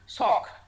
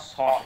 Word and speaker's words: shock: Sock. It's not sort, S-H-O-R-T, not its sort.